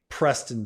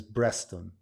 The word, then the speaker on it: Preston: my name Preston there's no p in Arabic so a lot of time when people say stuff with a p they say B so they'll say they'll say my name is breaston breaston which great my name's breston okay and so but